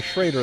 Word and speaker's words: Schrader: We thought it was Schroeder. It's going to be Schrader the rest of the game.